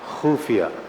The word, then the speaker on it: खुफिया: खुफिया. खत्म. क्या बात है. खत्म. खाली. आपने खुफिया बोला, मैं तो खत्म हो ही गया.